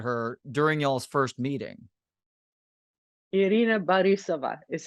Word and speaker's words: Irina Borisova: Irina Borisova is how that's pronounced.